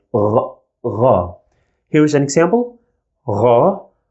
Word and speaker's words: غ: We pronounce it as Ra. Ra. It's equivalent to the French R if you're familiar with French. And this sound is also in German.